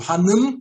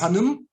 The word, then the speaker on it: Hanım: O Hanım, né, esse I sem ponto se pronuncia com I, existe o I com ponto sem ponto. Então, prenome mais Hanım, né, senhora, vamos dizer